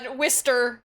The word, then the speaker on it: Worcester: And I'm like, okay, my bad, Worcester.